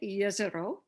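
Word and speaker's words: Jezero: you can see uh yezoro crater and that's how you say it yazero it's a croatian word that means lake and this image is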